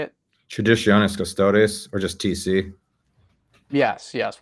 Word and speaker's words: Traditionis Custodes: Traditionis Custodes, or just TC.